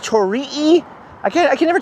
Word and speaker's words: torii: It's a torii gate. Or is it pronounced tori-ee?